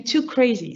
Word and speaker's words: 2CRSI: give you a trick usually english speakers pronounce it pronounce our name too crazy so maybe with too